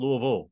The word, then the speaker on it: Louisville: like not quite it's it's not three syllables if you guys turn it into like two and a half syllables not quite two not